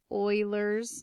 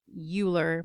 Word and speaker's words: Euler: fraction okay now sometimes it's referred to as Euler's number it looks kind of like Euler but it's pronounced Euler kind of like our mascot and